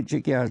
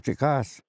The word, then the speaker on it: Chikas: It's a Chikas. That's how you say it in Tanaza. You don't say Chikias, Chikas.